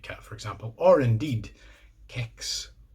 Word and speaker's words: kex: K and an e kicks so if kicks really is as I have always believed pronounced with a hard K it's an exception to the rule that I have found who knew so the